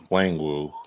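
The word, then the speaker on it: Nwangwu: Wangwu. Yeah, because when I The looked it silent up to N. find out how to pronounce it, the N is silent.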